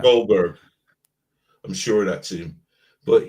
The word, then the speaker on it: Goldberg: Jeff Goldberg gold Goldberg do I say it right Goldberg yeah yeah Goldberg I'm sure that's him